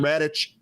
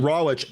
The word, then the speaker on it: Rawitch: Sign up to trade live with Wall Street veteran Dan Radic. Am I pronouncing your name correct? So close. Um, okay. Like an uncooked. Last time I'll screw that up. I promise you. Dan Rawich.